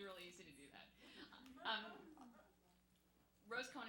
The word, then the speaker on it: Rosecohen: Rosecohen is pronounced as one word, like Long Island in New York.